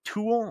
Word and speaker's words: tuum: Again, brain is a neutral noun, so it uses the neutral form tool with the M not being pronounced and the U being nasalized.